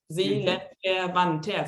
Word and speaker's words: Seelenverwandter: Seelenverwandter, so 5 syllables.